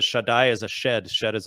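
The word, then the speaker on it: Shaddai: many names for God one of them is Shai which actually etymologically is probably uh connected to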